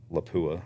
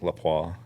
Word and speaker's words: Lapua: You know, generally you're going to be shooting Lapua or Lapua. Alan, why don't you give me your pronunciation? Lapua.